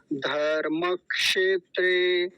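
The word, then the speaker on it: धर्मक्षेत्रे: गया था बचपन में तो गलत उच्चारण क्या है एक बार पहले उसे देख लीजिए फिर सही उच्चारण समझते हैं धर्म क्षेत्र क्षेत्रे ये गलत उच्चारण है सही उच्चारण क्या होगा धर्म क्षेत्रे धर्म क्षेत्रे मैं आपको एक उदाहरण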